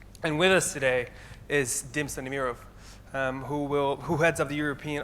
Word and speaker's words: Dimitar Stanimiroff: have spoken to where I can actually pronounce my name the way it was supposed to be pronounced. So with that in mind, I already got introduced, but allow me to reintroduce myself. My name is Dimitar Stanimiroff, and I'm the managing